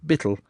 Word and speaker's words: beetle: the laborers are busy with Beetle pronounced Bittle a huge Mallet and iron wedges splitting